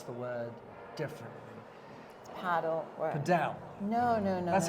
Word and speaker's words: padel: You go to the spa, you go and play paddle, there's a great restaurant, you don't need to go anywhere else.